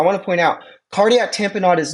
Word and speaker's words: tamponade: This is pronounced tamponade, not tamponade. It's not lemonade, tamponade.